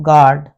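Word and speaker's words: guard: यह साइलेंट हो गया यू यू के बाद यदि कोई वावेल आ जाता है यह साइलेंट हो जाता है जैसे गाइड गैस और गर्ड मतलब दो वावेल या डाई वावेल नहीं होने चाहिए साइलेंट हो जाएगा तो एस का नियम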